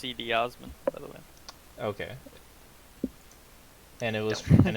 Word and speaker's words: Cedi Osman: do our final spin god Cleveland sucks it's pronounced cedi osman okay and it was and it's pronounced where